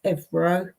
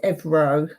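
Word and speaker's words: ευρώ: and that's 99 EO we say euro is Evo that's how you say it and it's never Euros it's always Euro in Cyprus it's evro and there's no plural to that and then here's like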